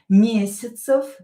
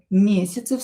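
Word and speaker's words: месяцев: Some less for example here mesyatsev mesyatsev this ya will be pronounced as i.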